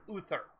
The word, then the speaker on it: Uther: they thought you were when you were saying arthur you are mispronouncing uther yeah that's what i